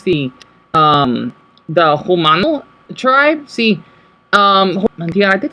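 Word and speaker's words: Jumano: in the Mexican dialect we pronounce J's as H.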